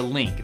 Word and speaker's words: Lynk: holding in my hand the link that's spelled l y n k this is a remote